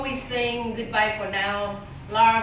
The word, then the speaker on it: Lars: pronounce your name right Lars Lars L LS in Swedish it's lar yeah can I say Larry